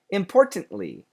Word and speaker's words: importantly: the word quickly importantly importantly importantly can you hear me stop and make the ly absolutely I absolutely like